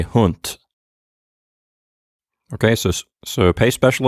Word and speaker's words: Hund: of words like hunt you're going to have to make sure that you pronounce it the way it would be in german often in an unvoiced or voiceless way instead of the way you're accustomed to saying it as an english speaker so instead of hund you'll say hunt okay so so pay